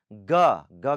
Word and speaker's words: ग: Okay, उसके बाद ख के बाद ग के.